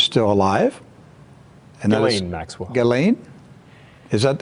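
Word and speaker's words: Ghislaine: daughter who is still alive and gain Maxwell galain is that it's pronounced galain galain Maxwell galain Maxwell and so you need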